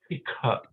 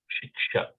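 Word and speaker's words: शिक्षा: But Shikha, that's how Bengali will say it. Shiksha.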